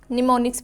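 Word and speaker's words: mnemonics: निमोनिक्स इसमें am silent है इसीलिए हम इसको निमोनिक्स पढ़ेंगे। इट is developed to make computer programming easier then machine language.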